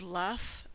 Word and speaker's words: laugh: end sound for example although the word laugh ends in GH we pronounce it as if it ended with a f now for some practice